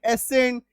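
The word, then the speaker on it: ascent: तो एस सी एन ई सीन, एस सी एन T Saint, A एस सी एन एसेंट, डी एस सी एन डेसेंट, एस सी आई एन साइंस, एस सी I double seizures.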